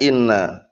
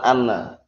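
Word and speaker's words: إنّ: seperti itu Nah Barakallah maka dia bacanya Inna bacanya Inna paham ya tidak atau dalam ilmu tauhid nanti dia Barakallah bukan Ana baca Inna bukan ini empat tempat tempat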